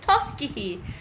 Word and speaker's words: Tuskegee: their life laughter and the pronunciation is the tusky heat oh so it's Tuskegee University I hope about you right Tuskegee art yeah because G is silent Roberto says and I'll